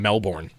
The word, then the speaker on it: Melbourne: Mexico City and Melbourne.